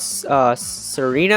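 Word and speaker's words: Tsareena: evolve into something called Serena, I'm pretty sure. I think the T is silent here.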